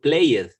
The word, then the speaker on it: played: Because play, the verb play, the last syllable is a consonant, it's a vowel sound. Play. A, B, C, D, F, G. A is the sound of the A. Played. That's what is with D.